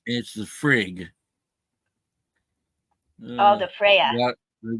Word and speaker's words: Frigg: You don't pronounce the G.